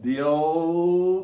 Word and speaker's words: Bill: Bill, olha o som, Bill, não é Bill, não faz bico para fazer esse LL de jeito nenhum. Will, não é will, repara, se fizer bico tá errado. Kill, não é kill, né?